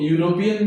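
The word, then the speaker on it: European: Letter है English में, लेकिन इसका जो प्रोनाउंसिएशन है हिंदी के माध्यम से ये यू आ रहा है, य का साउंड आ रहा है, इसलिए यहां पर ए आर्टिकल का यूज होगा।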